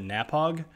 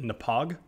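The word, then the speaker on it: Knappogue: Because I've been calling it Napog, and they basically pronounce it Napog.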